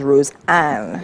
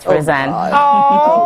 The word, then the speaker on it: Rosan: so first of all right earlier TI pronounced your name as rosean and I'm like hm is that not roseane so which is it tit is right rosan God pronounced it as rosan oh wow yes so you probably get a lot of different different Roan roxan rockan so it's rosan no rosan just say